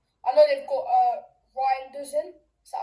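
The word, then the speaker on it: Reijnders: I know they've got uh Ryers in. Is that how you pronounce it? Yes, he got riders in.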